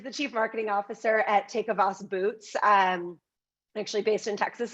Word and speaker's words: Tecovas: Well, first of all, you totally nailed my last name, but the company is pronounced Tecovas.